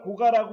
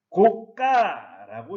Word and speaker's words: 고가: 고가라는 단어를 고가라고 발음하면 오래된 집이나 높은 곳에 가설한 것이라는 의미로 사용된 것으로 사이소리 현상이 일어나지 않은 것이고, 고가라고 읽으면 높은 가격이라는 의미로 사이소리 현상이 일어난 것입니다.